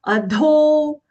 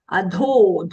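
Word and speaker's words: अधो: Then the fourth charana, adho, adho, dho, mahaprana long.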